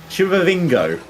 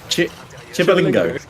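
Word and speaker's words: Chivilingo: It's not got an L in it though. Oh, it does. It does. Chivalingo. Chivalingo, that's how you say it.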